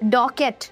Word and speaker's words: Docket: Number three, we have Dorset. Say hello to Dorset. It's pronounced Docket, by the way.